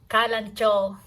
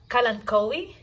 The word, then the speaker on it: Kalanchoe: video I'm gonna share my kalancho or sometimes I pronounce it Kalan koi but normally it's kalancho collection come and join